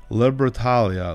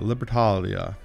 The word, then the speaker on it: Libertalia: libertaria the paterlia libertarian how do you pronounce that libertalia libertalia here's how you say that and uh this is